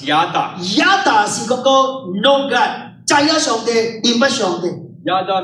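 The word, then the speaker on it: ידע: 希伯來文這個叫做 Yada， In the Hebrew language, it's pronounced as Yada.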